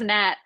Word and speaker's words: Nat: did you know and my name rhymes with fat you know so it was just one of those soda's Nat oh there you go